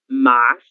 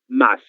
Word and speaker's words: mas: A palavra mas, que nós lemos mais, como se hubiera una I, pero no hay ninguna letra I, que é equivalente ao pero del espanhol, não?